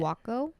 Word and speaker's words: Jaco: so there's a place called Jocko j-a-c-o it's how they pronounced it wacko Jacob but then there's